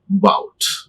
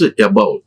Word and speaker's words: about: This is shoot, wood, bout. It is not about. It is not about. See this. Is the schwa, it is unstressed. The stress is on ba. Bout.